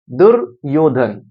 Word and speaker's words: दुर्योधन: आध र आया है जिस अक्षर के ऊपर उससे पहले ही र का उच्चारण होता है ये य के ऊपर आया है लेकिन जब इसको आप बोलेंगे तो या से पहले ही र आ रहा है दुर्योधन र के बाद या इसमें आ रहा